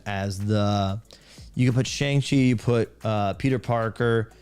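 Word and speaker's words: Shang-Chi: lead superhero movies made yeah I I love shangi or shangi I always forget the right pronunciation Chun SE like that Chun SE yeah I love that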